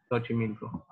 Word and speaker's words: Xochimilco: For example, it can be like an S, like sound. For instance, there's a place in Mexico called Xochimilco, and it starts with an X, Xochimilco.